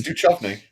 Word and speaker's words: Duchovny: David Duchovny. David Duchovny. No. It's Duchovny. That's how it's pronounced.